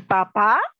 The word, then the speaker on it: papá: Y papá, con acento en la A, es su progenitor, ¿no?